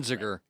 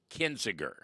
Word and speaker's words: Kinzinger: Well, Adam, help me pronounce his name. Kinzinger. Kinzinger.